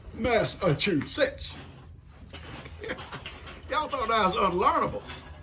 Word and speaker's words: Massachusetts: And she says, say, Massachusetts, like I'm gonna sneeze, Massachusetts.